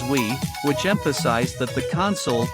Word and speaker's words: Wii: unique at the time the Wii is pronounced as we which emphasized that the